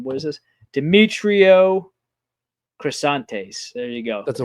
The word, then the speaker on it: Demetrio Crisantes: Demetrio Crisantes. There you go. That's a way better pronunciation.